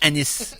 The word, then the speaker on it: Anis: Okay, ça se prononce Anis. A-N-I-S.